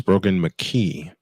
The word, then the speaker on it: Brogan McKee: I've mispronounced it. It's Brogan McKee with a running back standing to his right, 3 receivers out to the right.